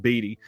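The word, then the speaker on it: Beattie: uh bestselling novel and I think that's actually pronounced batty and Batty's best-selling novel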